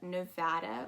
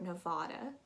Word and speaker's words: Nevada: go california next up we have nevada or nevada you can pronounce it either way a lot of people in the united states pronounce it differently and it's actually really your call whichever sounds more um